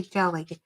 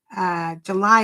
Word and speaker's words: Gely: Oh, I always say jelly, but I guess it's July postcard play, but it's spelled, July is spelled Gely.